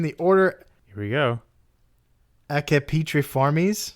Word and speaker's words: Accipitriformes: Accipitriformes. Accipitriformes. Oh, it's a C, soft C, and a hard C.